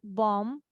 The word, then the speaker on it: bomb: and B are together, so we will not say the b sound, like in com or tomb or what else, bomb.